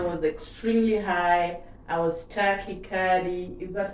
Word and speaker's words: tachycardia: I was tachycardia. Is that how you say it? Tachycardia, yeah. Tachycardia.